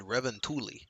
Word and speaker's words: Revontuli: But I did notice he said Revontuli, so I guess that is the pronunciation, not Revan, whatever I said earlier.